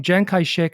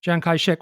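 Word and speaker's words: Chiang Kai-shek: He started to use the name Jang Kai-shek as a pen name for articles that he wrote. But his name had two pronunciations.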